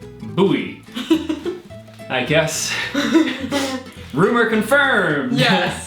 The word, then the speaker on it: Bowie: hopefully you can confirm Bowie is pronounced Bowie I guess rumor confirmed